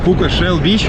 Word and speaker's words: Пука Shell Beach: Поэтому, конечно же, чтобы ощутить весь кайф Пука Бич, Пука Shell Beach, как полностью произносится название этого пляжа, нужно приезжать сюда самостоятельно и желательно подольше, а не на полчаса, как мы.